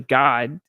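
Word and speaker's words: Gad: Kerry would love a actually God pronounced the same but spelled G- A D.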